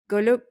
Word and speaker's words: Golub: Today we have with us Anton Golub. Am I saying it right? Golub? Yeah. Anton is an advisor, founding